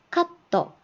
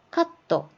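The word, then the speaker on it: カット: 카떠, 카떠, 커트, 자르다고요.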